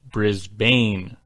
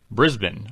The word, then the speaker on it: Brisbane: Missha first of all Brisbane oh yeah not pronounced Brisbane let alone Brisbane although you may have started